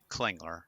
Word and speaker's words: Klingler: Klingler. And Perfect. you got to get that with the Klingler, you got to get that L in there.